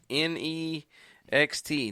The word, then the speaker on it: NXT: it out so n it's not Nick it it's next next oh there's a next